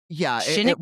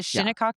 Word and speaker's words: Shinnecock: The Well, it Shinnecock? wasn't, Is that how you say it? yes. The Yeah, Shinnecock tribe?